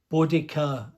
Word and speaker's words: Boudica: A1, Britannia, GWR Prairie, Ginty, another Castle, Britannia, Boudica as it's now pronounced, another couple of Pacifics, a diesel multiple